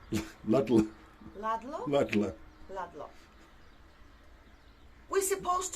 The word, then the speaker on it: Ludlow: Yes, I thought I should pronounce it K-A-E. And they're I from really- downtown Ludlow in Shropshire. Midlow. Ludlow.